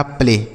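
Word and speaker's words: play: तो यानी पी से लिखेंगे आधा प एल से लिखेंगे ल और ए के साथ अगर वाई रहेगा तो हम ए की मात्रा पढ़ते हैं। लिखा प्ले।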